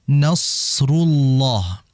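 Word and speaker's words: نصر الله: Dan huruf shad mengalir. Jadi jangan sampai dibaca idza jaa nasrullahi wal fath. Tidak. Nasrullah. Nasrullah dialirkan. Bagaimana cara mengalirnya? Sesuai makhrajnya. Makhrajnya itu ujung lidah ditempelkan ke gigi seri bawah. Ditempel situ biar ngalir.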